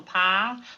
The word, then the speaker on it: Pyle: Pile. Pie rhymes with file.